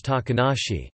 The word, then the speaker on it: 小鳥遊: Pronounced Katori Asobu. The name then can also mean Yangainai, Taka ga inai, literally, no hawks around, and it can be shortened to be pronounced as Takanashi.